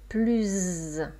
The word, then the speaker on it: plus: Là, je ne dis plus un mot. Donc là, c'est une négation. D'accord? Et avec une voyelle qui suit plus. Plus. Donc on prononce plus un mot.